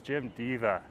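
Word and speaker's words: Jim Deva: she said you know when you're talking about Jim dea it's Jim Diva so when we're over there at gim Diva Plaza that's how we're supposed to pronounce it looks like we can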